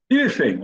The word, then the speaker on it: hífen: Hífen, a gente já tinha visto essa palavrinha, né? Hífen, nós temos 5 letras e nesse caso 4 fonemas, porque o O, o H não tem som nessa palavra.